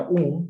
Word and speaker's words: un: es otra palabra que dice un pero se pronuncia un porque está delante de una p la n se pronuncia como una m al final de una p o p o b y aquí supuestamente es